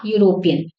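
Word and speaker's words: European: से आ रही हो जैसे आ यूरोपियन यूरोपियन तो यहां पर ई की ध्वनि नहीं आ रही है यू की आ रही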